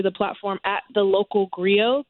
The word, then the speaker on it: griot: So right now the video is up on Instagram and YouTube under the platform at The Local Griot. Griot is spelled Grio.